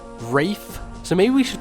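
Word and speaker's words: Raigh: I have seen people talking about how, like, I pronounce Luff's name Luff, and I pronounce Ray's name as Ray, despite the fact that if I were to be consistent, it would be Rafe.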